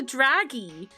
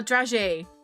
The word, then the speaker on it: dragée: I don't know how you pronounce it. Oh, dragée. There we go. Dragée. I've never actually heard anyone say it out loud, so I just called it a draggy.